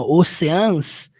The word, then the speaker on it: Oceans: na pronúncias a palavra Oceans Embora ela seja escrito assim ó Oceans você vai pronunciar com um som de x ou chances preste